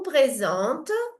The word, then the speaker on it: présente: Je vous présente ma famille. Desculpa, eu tô no de baixo, aqui no meu. Ah, tá. Je vous présente ma famille. Présente. Le EN se prononce en.